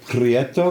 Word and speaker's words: Prieto: and we are here with a fabulous pretto did I say that properly yes you said